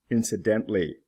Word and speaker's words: incidentally: the O is pronounced incidental incidentally not pronounced traditional traditionally whole is